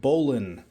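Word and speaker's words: bowline: ahead and tie the Bolan um it's spelled bow line but it's pronounced Bolan um this is an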